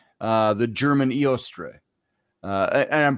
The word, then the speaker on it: Eostre: name uh the German iostre uh and I'm pronouncing the O the e o stre uh e-o-s-t-r-e uh you could just say that's really pronounced Easter and she was the